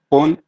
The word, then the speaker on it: fünf: जी सर, eins, zwei, drei, vier, fünf, मैंने पहले कहा था फुन नहीं sechs, कहना, फिन, fünf, हाँ हाँ, fünf, sechs, sieben, acht, neun, चलो जी, zehn।